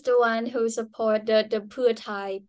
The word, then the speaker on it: Pheu Thai: one who supported the putai party that's how you pronounce it is for entice ties so putai is a party for ties ah okay I didn't know